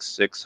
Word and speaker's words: Sikh: at the faith or Sikhism Sikh six however you want to pronunciate it is it is an